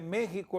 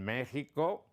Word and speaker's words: México: En México dejaron la X, que es lo que tenía en la colonia, la X. Y la pronunciación, la X, luego pasa a J, con sonido.